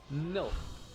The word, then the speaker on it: Nilth: Nilth is not hard to pronounce. It's just Nilth. Nilth.